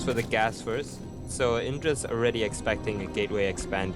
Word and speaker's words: Indra: his name quickly sometimes I'm not saying idra this is not idra it's not the player from Evil Geniuses is a Korean player yeah Indra I know and if